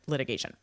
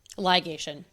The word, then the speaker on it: ligation: Actually it's easier to do this example with a tub litigation. Choosing to get a tubal litigation. Ligation. Ligation.